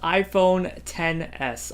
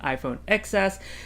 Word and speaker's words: iPhone XS: name can change so this is iPhone 10's I have to actually keep myself from saying iPhone excess because that's not how it's pronounced so design larger version